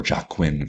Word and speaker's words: Joaquin: those Joker movies with Joaquin Phoenix or Joaquin Phoenix, I think, as it's properly pronounced, where that was a